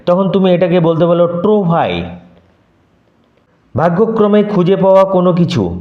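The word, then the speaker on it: trouvaille: হিউইকে প্রকাশ করলেন না a true ভাই উচ্চারণ লক্ষ্য কর নট ট্রোভাইয়েল এল এর উচ্চারণ হবে না এ ট্রুভাই মৌসে এ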